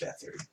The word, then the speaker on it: Beathard: Beathard. That's Beathard. how you pronounce it.